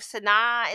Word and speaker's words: Sanaa: I believe Sana'a is how you say the capital.